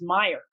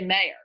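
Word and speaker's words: Mayer: meyer on video and he pronounced meyer correctly which which is always a sign the former ceo of yahoo a lot of people say i mean i yeah a lot of people say mayor but it's marissa meyer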